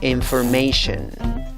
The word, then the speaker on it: information: En la segunda sílaba la vocal es schwa, a. En la tercera sílaba, la A con el guión arriba se pronuncia EI. La S con la H en la cuarta sílaba se pronuncia sh. Y la cuarta sílaba también tiene una vocal, a, schwa, la que no es ni E, ni A, ni O.